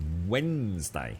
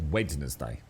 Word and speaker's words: Wednesday: very much bro yeah you don't pronounce the d uh phos yeah it's Wednesday not wedness day also known as hump